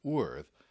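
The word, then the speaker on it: urðr: the Norse language is weird is actually pronounced worth and worth has a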